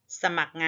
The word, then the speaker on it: สมัคร: เรือ เมื่อ มี ตัว เมื่อ เป็น ตัว สะกด จะ อ่าน ออก เสียง เหมือน มี ก ไก่ สะกด แต่ ไม่ ได้ อ่าน ออก เสียง ร เรือ พัก พวก พอ แม่